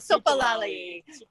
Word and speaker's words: soopolallie: I don't have the spelling for sopalele. Oh, sopalali. How do you spell that one? S-O-O-P. It is pretty close to how it sounds.